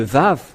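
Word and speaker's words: ו: Et ce que je veux en venir, c'est que vous voyez ici le terme Vav qui se prononce V.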